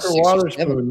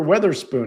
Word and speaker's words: Wotherspoon: Parker he was like Wotherspoon. Nobody even knows his name. They don't even know how to say his name because I've heard people say, "Oh, Parker Weatherspoon." No, it's Wotherspoon.